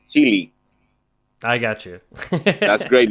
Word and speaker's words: Chile: Yeah, man, Chile. Yeah, here we say Chile, but from obviously most of the people say it like Chile.